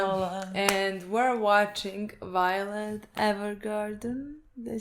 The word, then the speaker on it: Evergarden: and we're watching Violet Evergarden. Did I say it correctly? Evergarden, yes.